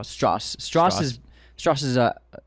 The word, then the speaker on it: Strauss: wartime efforts and so Strauss is it's pronounced straw Strauss Strauss is Strauss is